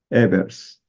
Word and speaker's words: Ebers: Se escreve Ebers. Evers.